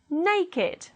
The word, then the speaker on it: naked: If they are adjectives, they do not follow the rule and they will be pronounced with id, it. Let's read it as adjectives. Aged, blessed, crooked, dogged, learned, naked, ragged, wicked, and wretched.